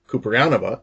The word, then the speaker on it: Kouprianova: have with me her name is ceranova did I say that right yes you